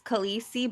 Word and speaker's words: Kuhleesee: It's Calista, but it's spelled Kuhleesee. I'm actually doing a character that likes blood, so Nice.